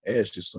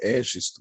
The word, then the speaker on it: Egisto: Eu pronuncio Egisto, vocês pronunciam Égisto, eu acho que é melhor Égisto mesmo, certo? Vocês são corretos, porque em grego é a terceira sílaba que é acentuada.